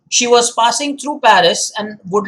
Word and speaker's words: Paris: said with asylum s it is pronounced as parry so remember that of course when we do it in english it's always paris yes it's not silent